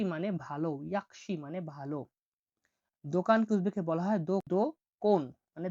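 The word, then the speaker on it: do'kon: দোকানকে উজবেকে বলা হয় দোকন মানে দোকান।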